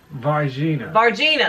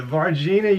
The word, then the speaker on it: Varginha: The Varginha, that's what it is what Brazil's version.